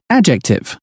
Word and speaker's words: adjective: আসো আমরা উচ্চারণটা একবার শুনে নেই। Adjective.